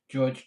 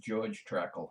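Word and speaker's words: Georg Trakl: tannic I'll one of the best Japanese poets George traka land underrated poet not quite as good as Ryan Maria Rilke but i would read him to an actual his name is pronounced george crackle not georg even though it's spelled de bois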